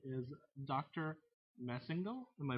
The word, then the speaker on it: Massengale: Massengale. Am I pronouncing that correctly? Massengale. Massengale.